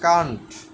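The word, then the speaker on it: can't: ক্যান plus not, এটার উচ্চারণ হচ্ছে কান্ট, পারে না।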